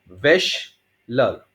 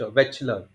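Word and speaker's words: Wechsler: वेशलर, वेश श श च च वेचलर, वेचलर, च सी लिख दिया, वेच लिख दिया, स्लर SLER, वेचलर। क्या लोगे, वेच या वेशलर? मैं वेश बोलता हूँ, वेश, लेकिन उच्चारण है वेच और स्लर।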